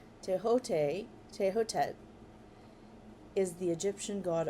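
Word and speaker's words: Thoth: Teote. Um, Teot. And I was pronouncing it th because it's t h o t h. Teote.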